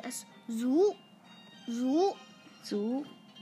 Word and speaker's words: 足: Its pronunciation is like this. Zu, zu, zu.